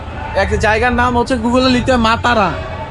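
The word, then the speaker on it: Matara: নাম হচ্ছে গুগল লিখতে মাতারা তো আমি তো বলছি মাতারা মাতারা এই লোক বুঝতেছে না বলছে মাতারা নট মাতারা মাতারা এইটা মূলত একটা ধর্মীয়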